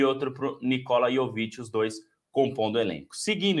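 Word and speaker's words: Jović: aí pro pro Nicolas jovit que não é o Yoki Então tem que tem que saber a pronúncia certa aí né yovich Então acho que é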